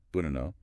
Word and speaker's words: banana: Think of the A in about, or the first A in banana, bunano, that first ba and the last na sound. That's the schwa. That relaxed, neutral sound.